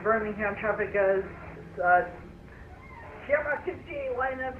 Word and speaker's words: Birmingham: It's Birmingham, not Birmingham. Birmingham is in the US. We are in the UK. Birmingham.